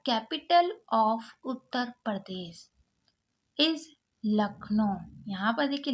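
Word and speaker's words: Lucknow: लखनऊ यहां पर देखि लखनो पढ़ा जाता है इसको अब यहां पर देखिए एल यू लक यहां पर यू साइलेंट है सी के को का पड़ा और एन ओ ओ डब्लू को ओ पड़े यानी कि लखनऊ उत्तर प्रदेश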